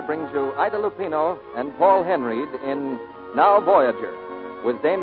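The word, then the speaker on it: Paul Henreid: in many a day he pronounces his name paul henry he and i do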